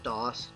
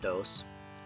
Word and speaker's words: DOS: a bit and please note that it is pronounced dos not dos sorry spanish speakers it's not ms2 for anyone